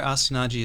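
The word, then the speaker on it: Astonaige: Astianage is how we pronounce it over here.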